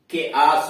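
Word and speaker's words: chaos: यानी देख रहे हैं कि नियम तो यह है कि उस शब्द के शुरू में सी एच आए, उसके बाद कोई स्वर आए तो उसका उच्चारण च होता है। लेकिन ये अपवाद हो गए, कमेलियन हुआ, के आस हुआ, कैरेक्टर हुआ, कारिज्मेटिक हुआ और करिश्मा हुआ, केमिस्ट हुआ, ये सब उसके अपवाद हैं।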